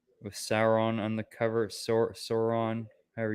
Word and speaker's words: Sauron: real crispy marble fanfare issue one right with sauron on the cover sauron however you say his name sauron's the lord of the rings guys it's sauron